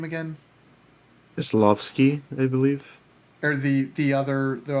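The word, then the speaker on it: Kieślowski: one, Oh yeah, Kieslowski and how do you pronounce his name again? Kieslowski, I believe.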